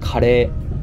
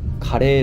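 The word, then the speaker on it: カレー: We pronounce curry as kare or kare rice.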